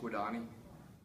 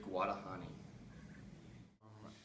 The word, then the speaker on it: Guadagni: Mitch Guadani, Stephen Fitzik, Parker Gadula, Guadagni, Ficyk, Gdula. The silent G, the second G is silent.